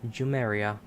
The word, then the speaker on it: Jumeirah: How do you pronounce that? Jumeirah.